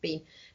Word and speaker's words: Biehn: Bain. Michael Biehn. Huh? Bean.